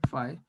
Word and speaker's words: phi: So you pronounce it as phi.